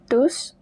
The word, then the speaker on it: tous: Mais si je ne passe pas maintenant but but if I do not pass now, maintenant, vous allez tous the S at the end is pronounced tous.